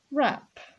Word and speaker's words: wrap: Wrap the verb to wrap.